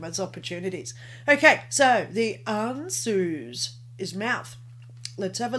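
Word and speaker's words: Ansuz: read all right this is mouth and it's pronounced anzus the ruin of odin also means mouth the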